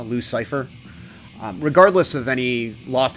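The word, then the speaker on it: Loucyfer: stream a while back commenting on how it's spelled like a dude's name l o u c y f e r so it's like uh the antagonist from PD wheatstraw devil's son-in-law Luc Cipher um regardless of any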